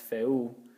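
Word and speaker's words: feū: This is pronounced feu, okay? Remember that U that has a macron on top of it.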